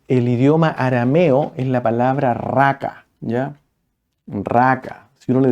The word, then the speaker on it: raca: eruditos que dicen que la palabra raca de la manera como se pronunciaba asemejaba No es cierto a la idea de e expresar No es cierto cuando uno va a escupir como Suena la garganta cuando uno quiere escupir a un hermano a una persona por